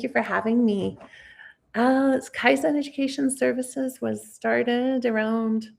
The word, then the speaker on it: Kaizen: Yeah, Kaizen Kaizen. Welcome to the podcast. So tell us a bit more about you, what you do. Oh, thank you. Thank you for having me. Uh Kaizen Education Services was started around I think about